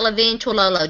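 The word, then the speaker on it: Levine Toilolo: All right, let's talk about Levine Tololo.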